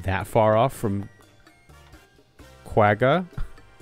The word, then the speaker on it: quagga: high-pitched whooping sound that doesn't sound like quagga at all yeah there's